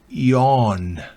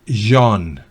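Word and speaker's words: yawn: naufragio naufragar ruso la esa t no se pronuncia resolve no es resto no es resto sino el verbo ion no es John no es con la y del del cono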